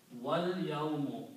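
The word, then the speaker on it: وَالْيَوْمِ: So, you pronounce wal, so do not pronounce this alif.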